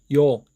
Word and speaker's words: ㅛ: 이오, 이오, 이오, 이오, 이오, 이오, 이오, 요, 요, 요. 이렇게 천천히 속도를 붙여가면서 빠르게 발음하시면 자연스럽게 요 발음을 하실 수 있을 겁니다.